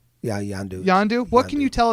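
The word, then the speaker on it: Yondu: tell us about your character uh is it pronounced yandu yeah yandu yandu what can you tell us about this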